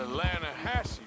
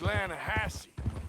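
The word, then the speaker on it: Lannahechee: some beautiful steelhead trout you mean the atlanta hassie river no no no no no the the lana hatch it runs right near here yeah but it's pronounced landhassy why is everything in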